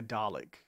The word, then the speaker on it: Dalek: Because I hear more of an IK sound to it too, you know, Dalek, rather than, yeah. Ek. Yeah, I don't hear the X sound that much. Ek. Dalek. Yeah. In fact, I don't like it pronounced like that. I like a Dalek.